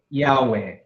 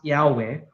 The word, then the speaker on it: Yahweh: when you pronounce it it is pronounced as almost three syllables but it is tying together by vowels with e a o Yahweh right so when you pronounce Yahweh this is very interesting